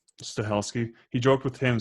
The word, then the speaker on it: Stahelski: How do you say Chad's last name? Stilisky or? I've heard Stahelski.